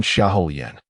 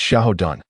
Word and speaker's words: Xiao Dun: That damn Xiao Yan. It's Xiao Dun. That character's name is pronounced Dun. Remember that.